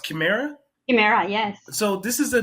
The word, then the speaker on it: Chimera: I actually have two questions for you because the name of your company is it pronounced Chimera? Chimera.